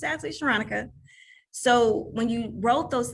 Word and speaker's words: Sharonica: Now, my name is Sharonica. It's phonetically spelled Veronica.